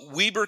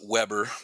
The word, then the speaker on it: Weber: big's the city so Weber County everyone always calls it Weber but but we call it Weber yeah Weber County then